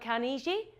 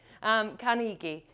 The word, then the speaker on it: Carnegie: a chap called and I say his name wrong every single time dealt Konishi so who can correct me brilliant thank you Carnegie he was an American